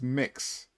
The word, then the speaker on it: Mx: that point but uh MX is a pre-existing thing um and it's pronounced mix um and I it's